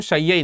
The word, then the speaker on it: शय्यई: तो शय्यई कह लीजिए या शेय कह लीजिए, तो इसका प्रोनाउंसिएशन जो है वो शय्यई निकलता है।